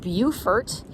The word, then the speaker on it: Beaufort: of Montezuma to the shores of Tripoli Buford South Carolina was founded in 1711 and it's on Port Royal Island here in SC as I'm going to call it it's pronounced Beaufort there is the same spelling in North Carolina